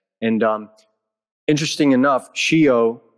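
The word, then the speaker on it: scio: and um interesting enough shio in italian means i know s c i o phonetically not that's obviously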